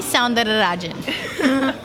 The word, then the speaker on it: Soundarajaran: I'm so far that I could pronounce her first name, but I'm unable to pronounce the second name. So give me some help. It's Soundarajaran.